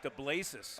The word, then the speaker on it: DeBlasis: I want to correct myself. It's pronounced DeBlasis.